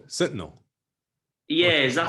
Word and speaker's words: Sentinel: It's kind of like what always boggles my mind is it the um, North Senetal? Am I pronouncing that right? North Senetal Island. oh, Sentinel.